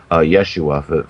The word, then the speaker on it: Yeshua: to happen at the time of his death, Yeshua, for the more correct Hebrew pronunciation, the curtain between the holy and the most holy in the temple was torn in two.